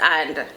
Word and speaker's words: an: The first word in English is and. A-N-D, and. In the Jamaican Patois, usually you'll hear an. Just an, no and, no D pronounced, just an, A-N.